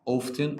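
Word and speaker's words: often: يوجي اقل منه كلمه اوفن على فكره ليها نطقين صح اوفتن اور اوفن النطقين عندي مافيش مشكله فيهم فيهم فيهم بعد كده سم تايمز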